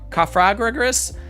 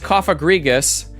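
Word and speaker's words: Cofagrigus: I was like cafa cafagris. It's just coffrigus.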